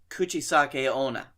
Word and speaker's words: kuchisake-onna: you like to pronounce that cuz I can't pronounce it oh the coochie Qashqai ona house what is this routine for sake kuchisake-onna okay it's a spirit that so it's a